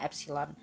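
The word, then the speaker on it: ε: So simbolnya adalah epsilon Oke ini cara bacanya epsilon kemudian kalau tegangan jepit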